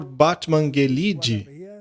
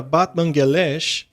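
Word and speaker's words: Batmanghelidj: houve um cientista chamado Dr Batman Grid mas aparentemente se pronuncia Batman galash este médico era um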